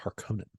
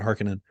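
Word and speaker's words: Harkonnen: Harkin and I believe in the Lynch film they pronounce it harkonen harkonen yeah however you want to call it and in this they pronounce it hekinan but uh harinen in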